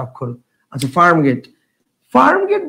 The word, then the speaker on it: Farmgate: So this is নট ফার্মগেটি, this is ফার্মগেট।